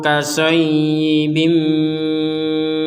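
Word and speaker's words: كَصَيِّبٍ: Di sini ada ya yang bertanda tasydid, kita dibacanya dengan tekanan ya, karena ya itu artinya menekan. Ini ya-nya satu ada tasydid, dibaca seakan-akan ya-nya itu adalah dua. Au kasayyi, itu penekanan, harus ditekan.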